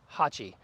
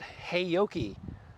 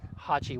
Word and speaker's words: Haoqi: we're going to talk about is the name Hachi A lot of people mispronounce that and they call it hey Yoki but that would be incorrect so we reached out to the manufacturer and they assured us Hachi was the pre the correct pronunciation for this